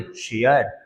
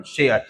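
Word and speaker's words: share: लेकिन दूसरी बात लेकिन अगर ए के बाद एक अक्षर छोड़कर के आर हो जाए तो उसका उच्चारण ए होगा। ए का मतलब जैसे पी ए आर इ है। देखिए ए के बाद आर आ रहा है तो क्या पढ़ेंगे? पेयर। क्या पढ़ने वाले हैं? पेयर। उसी तरह से बी ए आर ई क्या पढ़ेंगे? Bear. S एच ए आर ई क्या पढ़ेंगे? शेयर। हां शेयर।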